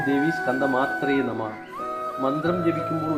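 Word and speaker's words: स्कन्दमात्रे: സ്കന്ദമാതാ യശസ്വിനി ഓം ദേവി സ്കന്ദമാത്രേ നമഃ മന്ത്രം ജപിക്കുമ്പോൾ ഉച്ചാരണത്തിൽ ഒരു കാര്യം ശ്രദ്ധിക്കണം സ്കന്ദമാത്രേ എന്ന് തന്നെ പറയണം മുൻ ദേവിമാരുടെ മന്ത്രങ്ങൾ പറഞ്ഞതുപോലെ മാതായെ എന്ന് പറയരുത് സ്കന്ദമാത്രേ എന്ന് പറയുക ഇവിടെ ഓം ദേവി സ്കന്ദമാത്രേ നമഃ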